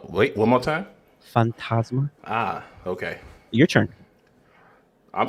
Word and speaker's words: Legado del Fantasma: How you pronounce that last name? What's his name? Legado del Fantasma. It said, wait, one more time. Fantasma.